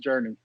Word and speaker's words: JRNE: It is JRNE, but it's pronounced Journey.